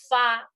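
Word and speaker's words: 发: used by people as eight pronounces like fa, okay? How to say eight in Chinese? How to say eight in Chinese? Ba. Okay. And this ba. One, make fortune. The pronunciation is fa, very similar, right?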